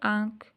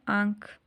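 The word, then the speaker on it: آنکھ: आँख अलिफ माद नून ख, अब नून गुना ऊपर छोटा सा लिखा है तो इसको हम कैसे प्रोनाउंस करेंगे, आँख, बहुत सॉफ्ट से उसमें। ठीक है, आँख।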